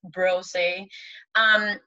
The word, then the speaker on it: Brossett: we haven't met before, my name is Brossett, or Brossett, properly pronounced, it's Brossett.